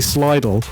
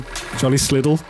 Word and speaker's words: Sliddle: I keep on saying Charlie Slidle, but I was corrected. He actually saw me at Volks Brighton and was like, "You say my name wrong every time." So I'm going to say Charlie Sliddle.